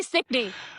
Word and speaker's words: Stickney: Am I pronounced correctly? Sticky, I think. I say Stickney.